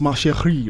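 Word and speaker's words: Ma Chérie: First off, how's that pronounced? Macheri, right?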